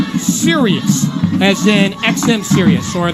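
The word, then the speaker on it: Sirius: band that did that song and it's called Sirus as in XM serus or the you know so it's pronounced the same way spelled the same way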